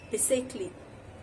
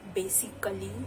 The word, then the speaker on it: basically: Basically. It's not basically, it's basically. Basically.